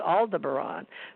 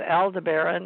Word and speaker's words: Aldebaran: And what's so funny is some people call it Aldebaran and some Aldebaran, or how they say it, Aldebaran. I've heard it pronounced both ways. You may be that both ways are okay, depending on where you live in the world.